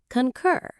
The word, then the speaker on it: concur: It sounds a little bit like the purring sound a happy cat makes, but with a k sound at the start. Concur.